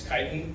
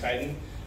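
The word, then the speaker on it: chitin: spelled c h i t i n it's kiten it's pronounced kiten and uh the presence of kiten in soil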